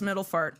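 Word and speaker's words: Middelfart: It's like a P-F-A-R-T. No, it's far. It's spelled far. It's Middlefart.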